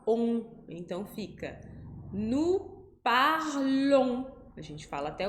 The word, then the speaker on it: parlons: Nous parlons, ONS no final. A gente não vai falar esse S.